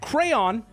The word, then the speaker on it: crayon: one because I say cran weird I will accept that crayon is the correct way to say it I choose to say